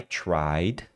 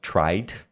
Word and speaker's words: tried: você vai falar i tried o tried que é o tentar no passado né tentei Você tem o som do d então tried Você tem o to